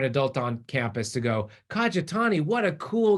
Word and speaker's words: Kajitani: Believe me, my last name is Kajitani, right? I can't tell you how many teachers and coaches I've had who've gone, Kaja, whatty?